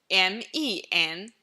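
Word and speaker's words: 门: So how do we pronounce door in Mandarin? M-E-N, the second tone. Men. And the character meaning plural of person is M-E-N, neutral tone. Men. The same syllable, just cast away the tone.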